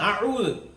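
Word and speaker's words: أعوذ: മലയാളത്തിലെ 'ആ' പോലെയല്ല ഇത് പറയുന്നത്. അല്ല , ഇതെന്താണ് കത്ത്? എ. ഇതല്ല, ഈ ഉച്ചാരണം ശരിയല്ല, പിന്നെ എങ്ങനെയായിരിക്കണം? എ. ആ എ. ആ എ. അപ്പോൾ നമ്മൾ "ആഊദു" എന്ന് പറയുമ്പോൾ എന്താണ് ചെയ്തത് ?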